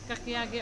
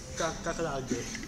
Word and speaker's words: kakiage: Hi, it's my birthday tonight, and right now I have a kakiage udon.